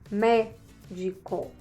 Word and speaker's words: médico: Então, médico, ME-DI-CO. Qual é a forte? Me, né? Porque tem a última sílaba, a penúltima e a antepenúltima, que é me.